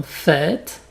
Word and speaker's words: fête: Par exemple dans fête, party, forêt. Donc tu peux t'imaginer que tu prononces ça comme un R accent grave, mais tu l'écris avec un chapeau.